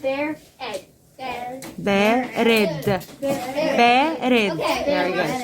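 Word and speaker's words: بارد: Barid means barid is pronounced bear egg. Barid.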